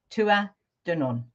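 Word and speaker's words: Tuatha Dé Danann: So the name that everyone seems to call them is the Tuatha De Danann. Yeah. However, you can also pronounce it Tuatha De Danann. Tuatha De Danann.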